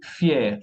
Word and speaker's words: fier: Tenemos aquí hier y fier. Hier es ayer, fier es orgulloso, ¿ok? Aquí sí vamos a pronunciar la R, ¿ok?